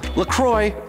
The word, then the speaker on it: LaCroix: LaCroix, or La Croix, if you want to be French about the pronunciation, is actually headquartered in La Crosse, Wisconsin, right over the border.